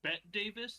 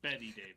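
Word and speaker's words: Bette Davis: I I I know I'm being that guy right now, but um, it's pronounced B Davis, not Betty Davis.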